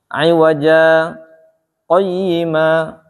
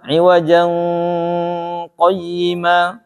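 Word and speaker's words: عِوَجَا قَيِّمًا: Tetap dibacanya iwaja, tapi kita nggak nafas, kemudian lanjut. Iwaja qayyima, iwaja qayyima, jangan iwajan qayyima.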